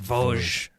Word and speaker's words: Vosges: It's pronounced Vosges.